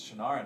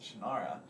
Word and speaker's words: Shannara: were referring to as Shannara and so uh that he would say the college is series what series oh Shannara he's like it's my Series this is how you pronounce it I never knew that